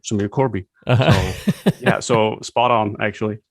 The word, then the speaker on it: Korbi: pronounce it in a since I'm Dutch I would pronounce it as but I mean when I when I uh talk to someone and we're having an uh conversation in English I tend to say Corby yeah so spot on